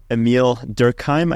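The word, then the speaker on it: Émile Durkheim: There's a French sociologist, his name is Emile Durkheim, I believe is how you pronounce his name.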